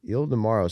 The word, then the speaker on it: Ildemaro: Ildemaro.